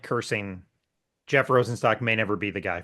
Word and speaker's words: Rosenstock: Is that how you say it, Rosenstock or Yep, Rosenstock?